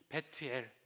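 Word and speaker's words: בית אל: 베델 원래 히브리어는요 원어로는 이렇게 돼 있어요. 발음이 베트엘.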